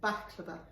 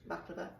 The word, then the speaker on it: baklava: And she asked for pronunciation. baklava.